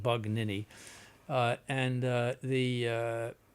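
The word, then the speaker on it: Bugnini: Hannibal Buon bug nin you have to get that pronounced correct bug nin uh and uh the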